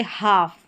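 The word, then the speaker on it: half: एल और एफ साथ में आएगा तो इसको फ जैसे हाफ यहां पर एल जो रहता है वो साइलेंट रहता है।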